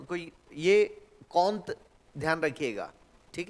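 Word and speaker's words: Comte: फ्रांसीसी दार्शनिक अगस्त कंत कंत लिखा जाता है ठीक है स्पेलिंग यह है लेकिन कंत पढ़ा जाता ठीक है ना य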